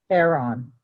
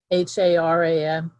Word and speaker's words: Haran: different brother of abraham his father was uh heron heron h-a-r-a-n haran yes i'm never sure how to pronounce the words okay thank you for the